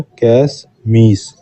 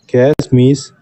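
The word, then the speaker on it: cache miss: conflict इसका answer है कैश मीस कैश मीस तब होता है कैश मिस इंग्लिश में हिंदी में थोड़ा मिस्प्रिंट है इसका सही उच्चारण होगा pronunciation कैश मिस कैश मिस तब होता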